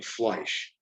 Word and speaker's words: Fleisch: uh their family name was originally fleisch just one syllable like that but when harry there